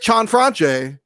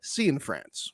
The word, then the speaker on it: Cianfrance: Derek Chanfranche is in fact Derek Cianfrance. See in France.